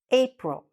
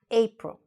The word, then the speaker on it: April: April. Okay, here, the stress is a little bit here on the A. April.